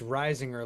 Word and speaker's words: Reisinger: It's Reisinger, like the farmer rising shores and Okay.